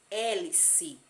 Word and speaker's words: hélice: pó tamo quarta palavrinha hélice hélice não esqueçam que o h ele é mudo mas a vogal que vem do lado dele aqui dará o som a ele certo próxima palavrinhas quinta